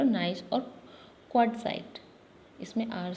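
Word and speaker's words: gneiss: जी silent है इसमें, marble, slate और नाइस, और क्वार्ट्जाइट, इसमें आर साइलेंट है, क्वार्ट्जाइट।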